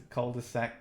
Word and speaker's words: cul-de-sac: That's a cul-de-sac, you don't pronounce the L.